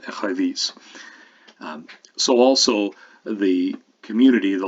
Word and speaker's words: écrevisse: There's no other reason for fish to be in crayfish except that it imitates phonetically the second syllable or the last syllable of écrevisse.